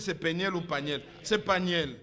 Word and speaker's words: Peniel: prononce bien si c'est paniel ou paniel. C'est paniel.